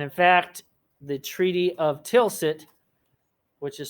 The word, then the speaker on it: Tilsit: modern germany and in fact the treaty of tilsit which is spelled t-i-l-s-i-t and the treaty of tilsit prussia and russia